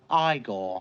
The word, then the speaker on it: Igor: of pike or yes in a spell Igor now it's pronounced I goal yeah a great film